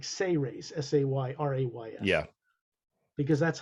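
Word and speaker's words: Sayrays: that s-a-y-r-a-y correct yeah it's like it says but it's pronounced like say rays s-a-y-r-a-y-s yeah because that's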